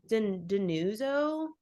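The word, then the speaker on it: Dinuzzo: say his name correctly I think it's Deno okay d i n u z zo o he sampled it and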